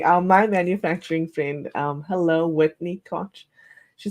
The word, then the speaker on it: Koch: Like my grandmother and grandfather, they were Koches. Oh, They weren't Cokes or Kooks or whatever you want to say. It was Koch.